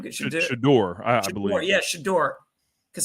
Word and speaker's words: Shedeur: Shedeur, is it how you pronounce his name? Shedeur, I believe.